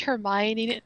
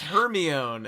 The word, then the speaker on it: Hermione: the author somewhere and they're like yeah it's pronounced Hermione oh that was a that was literally the example I was in my head in my head I was thinking it's her me own and then like when I say it now